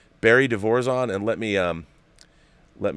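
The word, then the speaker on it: De Vorzon: final battle is actually barry devorzon said he pronounced his name barry devorzon and let me um let me uh put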